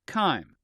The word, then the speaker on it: chyme: This mixture is called chyme. It's an interesting way to spell it, but it's pronounced chyme.